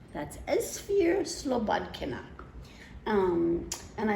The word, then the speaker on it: Esphyr Slobodkina: Now this is an old book and it's by a woman with a really hard to pronounce name. Her name is Esphyr Slobodkina. That's Esphyr Slobodkina.